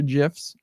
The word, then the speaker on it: GIF: guy who invented it says that they're GIFs, Yeah, but but everyone then you calls them spell it GIFs.